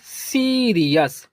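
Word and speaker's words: serious: और RE को पढ़ेंगे री। और OUS को पढ़ते हैं अस, तो लिखेंगे अस। तो ये हो जाएगा सीरियस।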